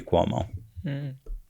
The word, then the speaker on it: Cuomo: or how do you say his last name Cuomo Cuomo the governor yeah of New York yeah